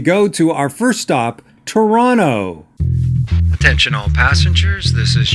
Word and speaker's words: Toronto: live in Toronto, is Toronto. We don't pronounce the T in Toronto when you're in Toronto. Toronto, Toronto, Toronto.